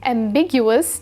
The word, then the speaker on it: ambiguous: different directions at once the stress is on the second syllable big which you can remember since something that's ambiguous can lead to Big misunderstandings when you buy a